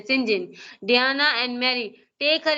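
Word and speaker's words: St John: Fortunately the reverse sibling, ये क्या है जी, एसटी जॉन्स, ठीक है, जिसे हम कहते हैं सिंजिन, जिसे प्रोनाउंस करते हैं Syngene, Diana and Mary take her into their home at more house.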